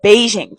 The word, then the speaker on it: Beijing: Have you ever heard of Peking opera and wondered what it was? Did you know that Peking is the Western mispronunciation of Beijing from when trade was